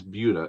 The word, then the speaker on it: Buda: one okay wife it's buda and again the reason for is because it actually comes from originally a spanish word but and they said